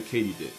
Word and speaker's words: katydid: their sub family of the katydid which is apparently how you pronounce it Not only was I